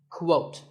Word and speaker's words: quote: is the word quote this is not pronounced the same as coat the correct way to say it is with a sound at the beginning quote similarly we have quotation